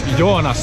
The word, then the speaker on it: Joonas: And you pronounce your name? No, it's Joonas.